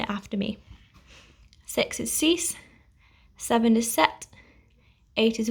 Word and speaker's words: six: to ten now so even though six looks like the english spelling it's actually pronounced cease and you'll see the